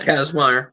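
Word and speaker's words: Kazmaier: Casmire. Kazmire was a legitimate strongman.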